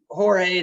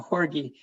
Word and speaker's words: Jorge: in-phase micro inverse um I think Jorge that I'm gonna or I think it's I've got your name wrong it's uh horgie um if I think